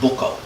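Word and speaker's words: boccough: I came across a report, this word in the report for Clonakilty, and it was a book, I think it's actually pronounced, it might be pronounced Bucko. B-O-C-C-O-U-G-H, and Bucko is a word that we all have an idea what it means.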